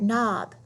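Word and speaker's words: knob: of our silent letters when you see a KN the K is silent all you hear is that in like in the word nob W is silent when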